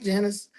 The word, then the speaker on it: Janus: Am I saying it right, Janice?